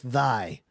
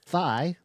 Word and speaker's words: Thy: show called Workdays with Thy. I think it's Thy. Right. So Is it it would Thai? be Thy. I think it's pronounced Thai. Yeah, okay.